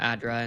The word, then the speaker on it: ADDRA: a bit and then obviously we'll talk about ADRA and um is that is that how pronounce it?